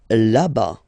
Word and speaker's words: là-bas: Là-bas, là-bas. Remember, final S not pronounced. Là-bas.